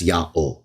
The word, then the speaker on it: Yahweh: he's arguing against, they knew that the Jews pronounced the divine name as Yahweh.